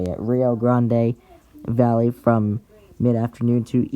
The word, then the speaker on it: Rio Grande: A swath of large hail and severe winds is possible along the Rio uh excuse me the Rio Grand Rio Rio Rio I guess is how you say it Rio Grande Valley from midafter afternoon to evening.